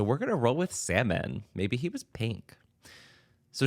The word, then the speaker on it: Salmon: marries a man named salmon Salomon I truly have zero idea from the pronunciation of this it's uh capital s a l m o n which in my mind reads as salmon but who knows I